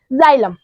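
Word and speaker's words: xylem: एम इसको क्या पढ़ेंगे इसको एक्स नहीं पढ़ के ज पढ़ेंगे जाइलम क्या पढ़ेंगे जाइलम ठीक है अगर यहीं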